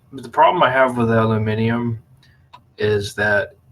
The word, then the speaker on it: aluminium: up with americanisms with aluminum and all this aluminium it's aluminium come on now that's the proper way literally everyone says alumin except America yeah and the whole